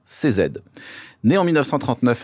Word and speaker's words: Cizeta: Le nom Cizeta vient de ses initiales, prononcées en italien CZ.